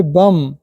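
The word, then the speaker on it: bomb: उसको हम यहां पर आ बम एमबी आया है बम नहीं बोड़ बम ओनली बम होता है तोय हमारे भी साइलेंट रूल होता है जब आप लोग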